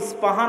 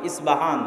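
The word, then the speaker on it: أصبهان: আমরা প উচ্চারণ করি। ইসপাহান আরবিতে এটা উচ্চারণ হয় না। আরবিতে হয় আল আসবাহানী। বা উচ্চারণ হয়। ইসবাহান বা আসবাহানী।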